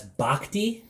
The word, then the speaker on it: Bochy: So if you were on Baseball Reference, as you said, they have this lovely pronunciation guide for everybody, and that's Bochte.